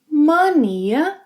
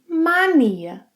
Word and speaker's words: mania: You can pronounce - ‘mania’ or ‘mania’. It's indifferent.